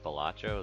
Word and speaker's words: Balatro: to another episode of batro um I'm realizing that I think I say it wrong bacho is what I hear a lot of people say and badro honestly sounds kind of dumb but that's how